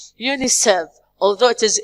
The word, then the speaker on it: UNICEF: United Nations International Children's Emergency Fund, which we say it UNICEF, although it is UNICEF, but we say it UNICEF.